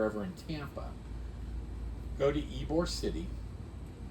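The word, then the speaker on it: Ybor: your listeners are ever in Tampa go to ebore City it's spelled YB o r but it's pronounced eore City and it's like Bourbon Street in New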